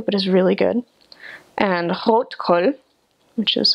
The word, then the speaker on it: Rotkohl: And rotkohl, which is how you would actually pronounce it, is red cabbage that's been pickled,